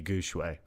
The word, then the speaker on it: Gu Shui: as a Chinese minor, I can tell you it should be Gu Shui. Huh. Shui, Well, yeah, there you go. Shui is a Gu Shui is Chinese for sure, so that's how you should pronounce it.